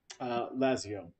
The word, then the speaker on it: Lazius: Lazio. Oh. Wait, there's an S at the end. Or is the S silent? It is silent.